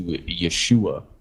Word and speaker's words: Yeshua: Yes, Jesus' name in Hebrew would have translated to Yeshua, But but Jesus, Yeshua.